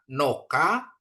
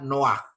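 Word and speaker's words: נֹחַ: unional ending ya terus Bukan dibaca Noka tapi dibaca Noah Nuh Ya Nabi Nuh Noah ya jadi bacanya Noah G Terus kata ada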